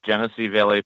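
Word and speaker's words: Genesee Valley: Okay, and is that Genessee Valley? Yes, Genessee Valley Paranormal Investigators.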